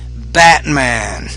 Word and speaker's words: Batman: We don't really pronounce the T in the middle, we say Batman.